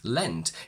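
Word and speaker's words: leant: the past of lean we have lean lent lent but it's spelled as l-e-a-n-t which means to move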